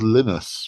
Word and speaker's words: Linus: I think it's pronounced Linus rather than Linus.